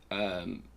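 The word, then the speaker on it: Eärwen: But her mother is Arwe.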